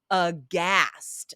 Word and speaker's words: aghast: And finally, guys, any words that start with GH, we do not say the H, just like WH, right?